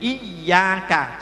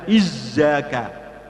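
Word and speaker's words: إِيَّاكَ: Jadi iyaka, jangan sampai ujungnya ke atas nanti berbau za. Izzaka. Ini banyak juga yang bacanya itu karena yang ujungnya kurang ke bawah jadi iyyaka na'budu. Nah, ada bau za.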